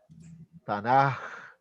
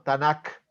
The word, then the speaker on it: Tanakh: En el hebreo, cuando una palabra termina en K, se pronuncia como una J y por eso cambia el sonido de la letra y serían los Ketubim. Ketubim se pronunciaría. Entonces la palabra sería Tanaj, no Tanak, sino Tanaj.